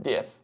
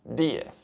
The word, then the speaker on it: Diez: My name is not 10, it's not Diez, it's Diez. So there's an accent on the I if you pronounce it correctly. The same way it says Diaz, not Diaz. So you see it sounds slightly different.